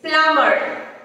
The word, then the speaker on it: plumber: It's plumber. Plumber. It's not plumber. The letter B is silent there.